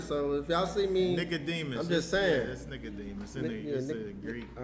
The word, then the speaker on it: Nicodemus: demon the demon uh what's the right pronunciation so I can say it right I just wanted to say it right that says knock demon knock demon knock knock demon I don't use this version It's Nicodemus see I I studied